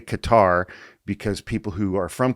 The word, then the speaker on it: Qatar: I say Qatar because people who are from Qatar are called Qataris. So I say Qatar. That's how I've always said it.